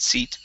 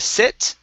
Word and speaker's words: seat: where are you at seat okay right here so um uh behind the seat instead of sit okay give me a long e sound seat seat there you go good